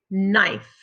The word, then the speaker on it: knife: i letter e like in fossil what word knife again our focus is um spell k n